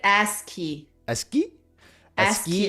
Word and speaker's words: ASCII: That's actually how it's a good friend of mine where we were chatting and I'm like, is it acai? And she's like, no, it's ASCII.